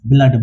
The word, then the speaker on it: blood: एल का उच्चारण ब्लॉस है और डी का उच्चारण डो से तो क्या हो गया ब्लड ब्लड मतलब खून वैसे ही एफ एल डबल